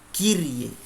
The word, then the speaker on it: Kyrie: Sementara Y dibaca I, maka dibaca Kyrie.